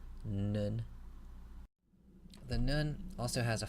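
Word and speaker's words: נון: Next letter is the nun, pronounced like an English N, nun.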